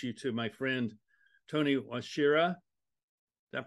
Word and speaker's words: Wachira: want to introduce you to my friend Tony washira does that pronounce that correctly yes you did yes you